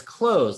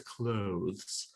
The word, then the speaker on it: clothes: But as you said, it's clothes, like close the door. Nobody says clothes unless you're trying to sound fancy.